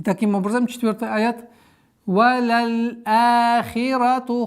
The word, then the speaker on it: وَلَلْآخِرَةُ: Если буква хамза находится между лямом и алифом, значит алиф, удлинительный алиф, подчиняется букве хамза. Валяль ахирату.